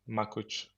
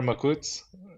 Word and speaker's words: Makuc: the Balon guys normally it's with the CH at the end so it's makuch but I prefer makut makut if it's possible if